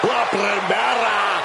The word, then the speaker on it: La Primera: La Primera. You need to roll your R's a little bit on that, man. La Primera.